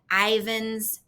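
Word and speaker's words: Ivins: so she lives in this giant house in Ivan's Utah I check the pronunciation on that that's correct all right so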